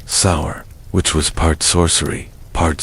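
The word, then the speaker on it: seiðr: Metamycet relied on magic, specifically a mysterious practice called cider, pronounced sour, which was part sorcery, part spiritual therapy, and part my ex want, return my runes.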